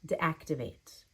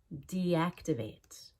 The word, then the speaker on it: deactivate: secondary stress desensitize deactivate I don't want to say deactivate my D wasn't clear enough there it needs to be a long e deactivate it's the opposite of